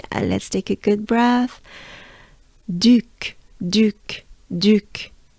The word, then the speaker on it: Duc: ba Le and then Duke Duke so it's the French version of Duke right now Duke Duke the u sound you can think of it to pronounce it as making a droopy face you drop your jaws